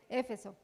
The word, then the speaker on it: Éfeso: Éfeso o Efeso, ¿cómo se dice? Éfeso.